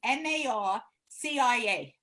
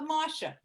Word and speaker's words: Marcia: Like I have a friend, her name is MARCIA, right? I call her Marsha. She's, my name is Marcia. It's not Marsha.